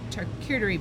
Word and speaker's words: charcuterie: We've got the cutting boards, the charcuterie board. I never know if I'm pronouncing that right. Charcuterie is what I've heard. Yes, I think you did it right. Thank you.